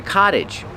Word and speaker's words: cottage: Pronunciation, the T makes a fast D. Cottage, cottage, cottage.